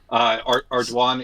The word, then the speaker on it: Ardoin: Ardoin is my what I call my preferred mispronunciation because it's French and hard to say if you can't roll your R's and stuff.